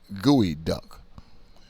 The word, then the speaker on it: geoduck: Have you ever heard of a clam called a geoduck? And that's spelled Gooeyduck.